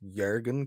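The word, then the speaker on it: Jürgen: correct and say that it's jurgen klopp the j is pronounced like a y um but uh you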